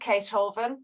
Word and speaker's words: Caethoven: It's pronounced Caethoven, so Caethoven. like Beethoven, but Oh, gotcha. spelled more difficultly.